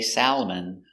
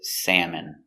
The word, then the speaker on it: salmon: have salmon that's right we don't say salmon we say salmon so salmon is a